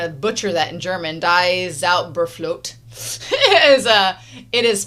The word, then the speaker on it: Die Zauberflöte: Zauberflöte? Die Zauberflöte. I was close. Die Zauberflöte.